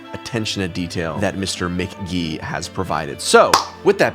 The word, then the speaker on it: MK.gee: And I should have checked his bio because on Spotify it does say right there. Pronounced MK.GEE. Mr. Michael McGee, very cool album.